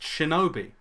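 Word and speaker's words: 忍: The name of this character is nin. Okay, it's pronounced shinobi.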